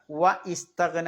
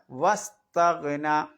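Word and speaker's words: وَٱسْتَغْنَىٰ: പിന്നെ അവിടെ ശ്രദ്ധിക്കാനുള്ള വ ഇസ്തഗ്ന എന്ന് ഓതേണ്ട ആവശ്യമില്ല, വസ്തഗ്ന. ആലിഫിന് ഉച്ചാരണം ഉണ്ടാവില്ല.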